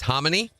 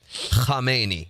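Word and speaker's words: Khamenei: It's like you have a bad sinus infection. That's their pronunciation for K. Khamei is the correct way to pronounce this.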